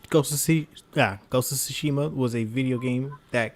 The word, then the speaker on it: Tsushima: Yeah, Tsushima.